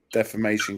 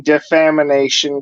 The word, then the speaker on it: defamation: if she wants to try to limit the defamation case she's probably got coming towards her don't you mean defamination case you know what i'll tell you